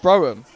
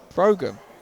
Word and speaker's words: Brougham: I thought it'd be pronounced Brougham, but apparently he tells me there's a hard G in there. So it's Brougham, or Brougham.